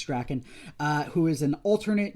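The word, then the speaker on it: Drakkon: comic this is uh lord drakken or dracone i've heard it pronounced both ways i believe it's draken uh who is an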